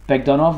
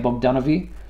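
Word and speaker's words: Bogdanove: Is it... Bogdanov. Bogdanov, yeah, because I used to hear a lot of people saying Bogdanovi.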